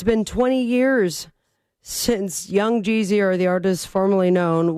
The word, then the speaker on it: Young Jeezy: Rhymes with queasy money. Young Jeezy is right.